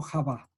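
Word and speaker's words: חוה: Y en hebreo, Eva se escribe como Javá.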